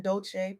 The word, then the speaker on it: Dolce: I'm your host Leanne Dolce, pronounced dolce like sweet softness whispered in French.